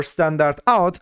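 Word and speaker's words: stdout: And we also have the std out pronounced as the standard output or standard out.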